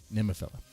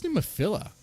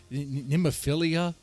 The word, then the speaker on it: Nemophila: Even they were like, who's Nemophila? They got the name wrong. They're like, Nemophilia? They didn't know how to pronounce it.